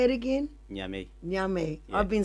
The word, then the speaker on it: Niamey: and also sometimes when he comes to in Niamey, in the capital, when I was there. How do you say it again? Niamey? Nyame.